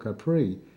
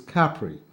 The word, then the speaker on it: Capri: he's pronouncing it incorrectly, because isn't it called Capri? And that's not right. Most people pronounce it incorrectly. It's Capri.